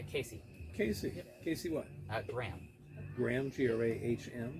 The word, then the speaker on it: Graham: Casey Casey what uh Graham Graham g r a h m g r a h a m yeah I'm getting super Scottish I two syllables and how do you